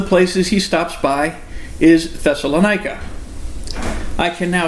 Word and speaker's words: Thessalonica: But yes, no, it's Thessalonica. Yeah, that's okay. And the emphasis is on the nigh.